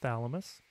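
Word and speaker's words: Chthamalus: which is an awfully strange spelling but it's pronounced thalamus and balanus these are two different species of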